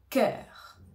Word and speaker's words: cœur: le mot cœur cœur alors ici on a le son k non au départ comme si c'était un cas que que le son e comme le E en français avec la langue au milieu e et le r on va dire cœur cœur cœur cœur donc le r il nous vient un petit peu de la gorge cœur par exemple j'ai